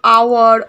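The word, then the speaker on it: hour: আর আমরা এই ক্ষেত্রে যেমন আওয়ার, অনেস, ঠিক আছে, অনার, এইসব ক্ষেত্রে আমরা কি করছি, অ্যানকে ব্যবহার করছি এইচ থাকার সত্ত্বেও, বিকজ এইচের যে উচ্চারণটা সেটা উজ্জ থাকছে, এইচের উচ্চারণটা হচ্ছে না, আমরা ওয়ের উচ্চারণটা আসছে, ঠিক আছে?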